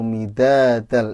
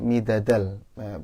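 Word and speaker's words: مدادا: Kemudian untuk bacaannya kullau kanal bahru midadal, itu da-nya yang pertama panjang kalau nggak salah ya. Tadi Ibu bacanya midadal, pendek ya gitu.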